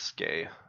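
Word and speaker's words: Skjei: It's Skay. Skay, right? Skay. It's not ski. I don't know why I was saying ski. Skay. It's like I just remembered how to say it.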